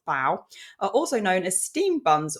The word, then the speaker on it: bao: is what I found so baoban's pronounced bow also known as Steam